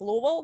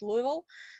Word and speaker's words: Louisville: louisville actually kentucky and i pronounce it with the kentucky accent if i want it's louisville not louisville so the moment i